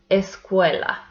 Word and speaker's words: escuela: We have here the word escuela. So it has three syllables and the second one is the stressed one.